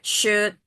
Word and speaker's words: should: So make sure that you're sure with your pronunciation like should, would. The L is not pronounced.